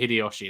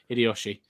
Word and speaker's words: Hideyoshi: Hiroshi. Hideyoshi is Hideyoshi. Hideyoshi, that's it. Hideyoshi.